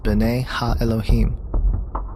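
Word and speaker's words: בני אלהים: of God mentioned here in the Hebrew is pronounced Bena Elohim the septu which is the Greek translation of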